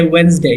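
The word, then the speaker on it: Wednesday: हैं Sunday Monday ट्यूसडे वेडनेसडे यहां पर दे साइलेंट है वेडनेसडे थर्सडे फ्राईडे और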